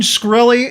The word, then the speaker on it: Shkreli: Just real quick, Martin Shkreli, is that how you pronounce his name? Farmer Bro. Shkreli, yeah.